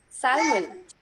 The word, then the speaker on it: salmon: Salmon. No, no. You don't have to pronounce the L letter.